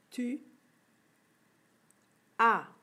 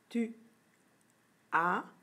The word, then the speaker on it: tu as: Ça se prononce tu as, mais au Québec, on dit souvent tu as. N'oublie pas, à la fin du A, il y a une lettre muette.